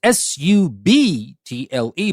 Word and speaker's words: subtle: word is subtle It's s u b t l e but the B is silent so we say subtle